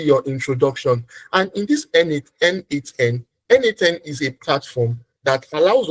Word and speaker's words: n8n: So tonight we are going to be using what we call N8N. N8, which is spelled as N then.